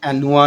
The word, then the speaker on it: Anua: इसे हम अनबॉक्स करें तो कुछ ये एनोवा का सीरम जो है, कुछ नोवा बोलते हैं, कुछ एनोवा बोलते हैं, कुछ एनुआ बोलते हैं इस ब्रांड को। तो खैर किसी भी नाम से आप प्रोनाउंस कर सकते हैं, लेकिन एनुआ नाम है इसका, ANUA।